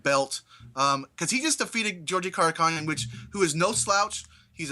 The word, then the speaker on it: Georgi Karakhanyan: Georgi Karakhanyan. Karakhanyan, okay. Yeah. All right, yeah, it's spelled all crazy, but yeah, this was a much better fight, Mike.